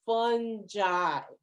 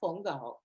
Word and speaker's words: fungi: is fungi my advisor my mycology advisor at university of maryland taught me that is fungi however i won't get mad if you call me a fungo so um the the the pronunciation um between academics is fungi but truth be told i'm really not mad either way um and he mentioned